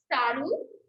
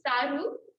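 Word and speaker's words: સારું: So yeah, you would say Gamto, and then you can say Saru, which means good. So like also you can roll your R's with that if you'd like to. Saru, and then anetu, and then tu, you want to emphasize the TH.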